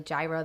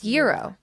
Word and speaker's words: gyro: versus, like, a gyro, and, like, how to pronounce certain things. Like, it's not actually gyro there. It's, like... It's gyro.